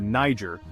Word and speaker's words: Niger: Kenneth Macalpine, known as the Niger, pronounced with a hard G back then, was the progenitor of Scotland's royal line.